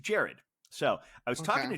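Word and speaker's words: Gerard: de pardue and mr butler yes but it's pronounced jared so i was talking to jared he i said oh this is have coconut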